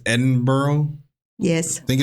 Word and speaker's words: Edinburgh: And I said, "Well, this is uh" I I said Edinburgh. But it's Edinburgh.